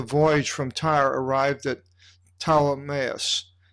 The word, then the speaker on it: Ptolemais: And we, having concluded the voyage from Tyre, arrived at Ptolemais. Ptolemaida is the Greek pronunciation.